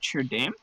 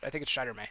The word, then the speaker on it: Shiderme: Is that Sherdame? Shadurme. Sherdame, okay. Or I think it's Shiderme, actually.